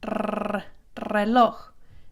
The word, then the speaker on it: reloj: But when it begins a word, it's rolled. Reloj, reloj, reloj. And you don't have to sit there and roll it forever. It's not reloj. You just do it a little bit, reloj.